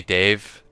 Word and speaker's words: Dev: You can call me Dave. Dev is is pronounced as Dave.